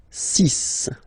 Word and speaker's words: six: Then be careful here, because even if it's ending with this X, well, you'll have to pronounce it like S. Okay, so you get the six pronunciation.